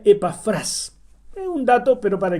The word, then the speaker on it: Epafras: En español, como está escrito en la Biblia, debiera pronunciarse Epafras. Pero en el original, la tilde está al final, en la última sílaba. Entonces se pronuncia Epafras.